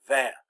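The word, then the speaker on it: vingt: is 20 no so notice we've got two silent letters here G and T well actually the N is kind of silent because the I n makes a nasal sound so it's van so that's really only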